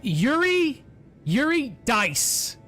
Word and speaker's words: Eurydice: It's Yuri Dice.